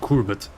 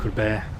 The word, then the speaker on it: Courbet: I know it's not Courbet, that's for sure. Courbet.